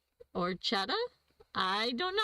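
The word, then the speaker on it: orecchiette: Now we got orchat orettas or chetta. I don't know how to pronounce that Nancy. I love it. William, welcome. Welcome. Defer to Phil. The ch sounds like a K.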